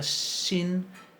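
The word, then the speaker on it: שׁ: A la derecha se va a pronunciar shin, y con el puntito a la izquierda se va a pronunciar sin.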